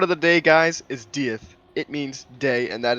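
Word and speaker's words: dydd: crash the word of the day guys is deth it means day and that is the name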